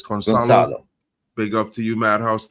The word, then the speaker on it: Gonçalo: Madhouse is saying C is pronounced as an S in Portuguese, so it's Gonçalo.